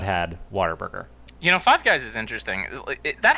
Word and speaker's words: Whataburger: It's spelled water, but it's it's like what a burger, Whataburger.